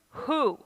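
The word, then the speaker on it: הוא: to the store and how do you say he in hebrew who well i just told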